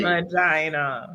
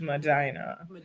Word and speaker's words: Medina: you pronounce Leave that, it to that me. It's city. Medina. It's Medina.